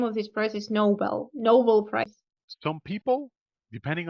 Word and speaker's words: Nobel: another like for example you might want to say oh that's a that's a Noble Prize right but that's the thing you know like Nobel would be the way of I'm sorry the way to pronounce the prestig is a word right like the Nobel Prize and that's a noble person noble noble and Noel Nobel